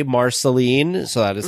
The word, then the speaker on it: Marceline: was the first person that we heard say Marceline so that is how it is pronounced down there this gentleman was wonderful he